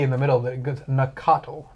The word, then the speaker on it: Nacatl: How do you just delete an A in the middle that goes Nacatl, not Nactyl? There's just an A that you just didn't say.